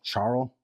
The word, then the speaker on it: Charl: molotop yet one man I don't know if to say his name charl or or or Carl it's ch h a l charl Charles